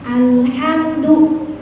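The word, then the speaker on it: الحمد: su sukun alhamdu hamdu ada mim ketemu dal itu namanya izhar syafawi jelas enggak boleh begini bacanya Bu alhamdu enggak boleh harus jelas alhamdu jelas alham itu nama namanya apa namanya?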